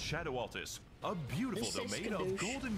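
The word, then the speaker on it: Scadu Altus: and radiant landscape of scadu SCU it's pronounced Shadow alus a beautiful domain of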